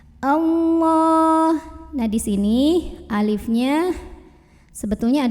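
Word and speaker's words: الله: Allah. Lam jalalahnya dibunyikan secara tafkhim karena huruf sebelumnya yaitu hamzah tadi barisnya fathah. Maka bacanya tebal, pangkal lidah dinaikkan.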